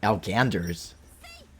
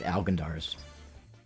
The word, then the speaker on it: Algandars: They usually pronounce it right, but they put the emphasis in the wrong place. They say Alganders. It's Algandars.